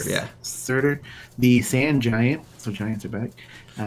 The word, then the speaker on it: Surtur: Surtur, yeah. Surtur, the sand giant.